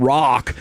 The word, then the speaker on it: Roch: You already have an awesome name and rock." All right. So, it's time for the winners. I would say though, it's spelled R O C H. That's not how you spell rock.